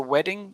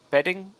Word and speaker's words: wedding: But what you've got this, you're saying a B instead of a W sound. So for wedding, you're saying bedding, I believe, a B instead of a W.